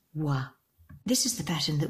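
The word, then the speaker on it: は: When this hiragana appears in a word, it's pronounced ha, but when it's used as a particle, as it is here, it's pronounced wa.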